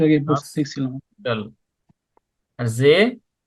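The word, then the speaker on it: See: আর জে, জে মানে হলো সি, এস ই এ ইংলিশে, আর জার্মানে হলো এস ডাবল ই, উচ্চারণ হলো জে।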